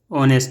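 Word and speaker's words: honest: में ओ आता है और एच जो होता है वह साइलेंट हो जाता है और वो यानी कि वो जो है ऑनेस्ट में वो एक प्रकार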